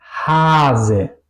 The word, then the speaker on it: Hase: Al contrario, tenemos vase o hase. ¿Ok? Aquí suena la A larga y la S corta.